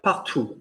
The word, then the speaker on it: partout: Spell partout from the T. T. O-U-T. Ah. And how do we pronounce an O-U vowel, please? Ooh. Give me your rich baritone. Ooh. Thank you. Partout.